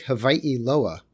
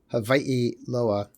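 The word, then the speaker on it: Hawaiʻiloa: Why did they make Hawaii Loa? And I should also point out, in the Hawaiian language, the W is pronounced like in German, like a V.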